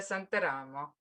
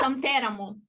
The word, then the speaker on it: Santeramo: It's easy, Santeramo. You see, the accent is wrong. No? It's Santeramo. Santeramo, okay. But it's a common, I mean, also in Italians are pronouncing it with accent on another, so don't worry.